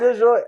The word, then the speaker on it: DiGioia: Oh, DiGioia. That's how you say it? I could never... No, Is it DiGioia? DiGioia.